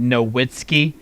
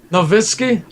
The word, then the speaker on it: Nowitzki: People are talking about you saying Nowitzki. You just sounded so American just then. Nowitzki? I'll take Dirk Nowitzki. I pronounce it as it's spelled, my friend.